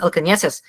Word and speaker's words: Alcaneses: People don't know how to pronounce my last name because it has an Enya, which is a special character in Spain. and my last name is Spanish. It's Alcaneses. It's pronounced Alcaneses.